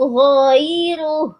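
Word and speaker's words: غيره: Oke, boleh diulang lagi Bunda dari ee maum maum min ilahin ghairuh ghairuh giruh. Jadi jangan ditelat, jangan dipanjangkan ya ginya Bunda gi jangan gii tapi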